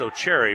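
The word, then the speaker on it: Otchere: O'Cherry, well, now they pronounced O'Cherry, but I'm going to stick with O'Cheers.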